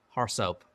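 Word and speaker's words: RSoP: policy we often compare an AR SOP report pronounced horse up to what you expect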